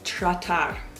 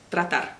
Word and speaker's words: tratar: vas a escuchar que la T y la R no son un sonido, están separados. Nosotros, nosotros. Kilómetros, tratar. No vas a decir tratar, vas a decir tratar.